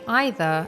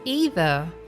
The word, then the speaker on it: either: Most Brits would say either, and most Americans would say it as either. However, nowadays people just choose whichever pronunciation they feel comfortable saying. They are both correct.